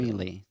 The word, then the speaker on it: Mele: No, Mele is how we pronounce it. Mele. So I've been saying it all wrong, and you haven't corrected me. That's the proper way to say it.